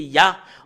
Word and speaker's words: Yah: nous voyons le terme Yah. En anglais, c'est Yah. Voilà comment l'écrit Yod, He. Et le fait de lire le Yod et le He, c'est Yah en langue hébreu.